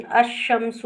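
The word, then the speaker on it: الشمس: जैसे अल कमरू, अल कमरू, कमर में अल को प्रोनाउंस किया गया, लेकिन अशमसु में लाम को ड्रॉप कर दिया गया और शीन को पढ़ा गया अलिफ के साथ, अशमसु, अशमसु।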